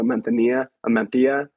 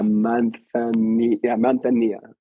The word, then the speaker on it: manzanilla: So like a mentilla, or I said that wrong. A manzanilla.